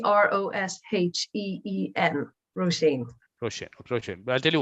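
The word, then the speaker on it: Róisín: bikram and good afternoon ladies the way you pronounce this is roshane oh shane okay that's interesting and it's it's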